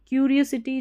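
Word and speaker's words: curiosity: ये है CU को क्यू पढ़ना है, क नहीं पढ़ना, क्यू रियो, RIO रियो, और सिटी, SITY सिटी। क्यूरियोसिटी, जो जिज्ञासा होती है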